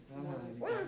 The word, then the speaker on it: Euler: Euler's method not so much, but the first part, yeah, totally. Yeah. It's pronounced Euler.